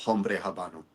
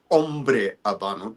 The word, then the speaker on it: Hombre Habano: Well, actually well actually it's not it's not Hombre Habano, it's Ombre Abano. There's no H's pronounced.